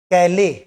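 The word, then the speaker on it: Calais: कैले इसका स्पेलिंग में एस भले ही है पर ये फ्रेंच वर्ड है। कैले कैले इसका प्रोनंसिएशन है।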